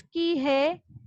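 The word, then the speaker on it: کہیں: सिर्फ हर कई शे जी आहे निराली, अच्छाई हर चीज की है निराली, मुख्तलिफ। कहीं, काफ, नून, हे, ये, नून, कहीं। काफ, नून, हे, ये, नून, कहीं। नून साइलेंट है बेटा, ठीक है, नून साइलेंट है।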